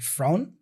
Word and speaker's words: front: Notice also that the T for front is also dropped. So he's pronouncing the N for front, like front. You see this N sound, and joining that N for front with So he says front.